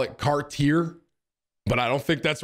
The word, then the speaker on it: Cartier: Anyone here into designer shit, it's Cartier. I call it Cartier, but I don't think that's right.